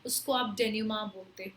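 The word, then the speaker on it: dénouement: So ये जो word है इसकी प्रोनाउंसिएशन है डेन्यूमा। डेन्यूमा इसकी सही प्रोनाउंसिएशन, आई नो डेन्यूमेंट होना चाहिए लेकिन नो, इट्स प्रोनाउंस एज डेन्यूमा।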